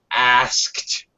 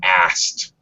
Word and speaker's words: asked: It's actually supposed to be one syllable. English speakers often reduce this pronunciation, and that's okay. So we kind of drop the K sound, because it's really hard to say the K sound and then the T sound for the ED. So you frequently will hear native speakers say asked, like that. Okay. Very common. Asked. With a T sound at the end.